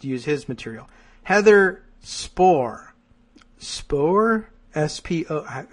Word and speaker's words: Spohr: Spohr? S-P-O... I'm going to add an extra like half syllable to that.